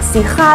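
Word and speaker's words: Syrah: 首先有两个读音咧，因为咧 Shiraz 系英文咁样读法啦，Sirah 咧就系法文咁样读法嚟嘅。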